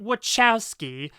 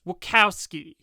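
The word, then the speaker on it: Wachowski: Bigalow and the wowski sisters and it's not wowski it's wowski they're from Chicago that's how you pronounce it also you think this is a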